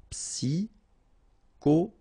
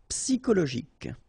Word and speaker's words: psychologique: Okay, remember at the end you've got this K. Okay, so ik, and then Y is pronounced like I. Psy. And then it's an exception here because normally we should pronounce it sho, okay, but then we pronounce it ko.